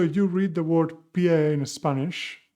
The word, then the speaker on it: pie: see it written here, you may be tempted to think that it's pie in English, but no, the sound is very different and the meaning is too.